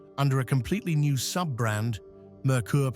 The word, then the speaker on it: Merkur: a completely new sub-brand, Merkur pronounced like Mercury, but in German, based on the European Ford Sierra RS.